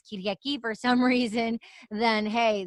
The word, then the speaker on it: Kyriaki: know, for the MFs who like cannot pronounce Kyriaki for some reason, then hey, that like, they can just call me. So I'm like, here you go, Kyriaki, basically. It's Kyriaki.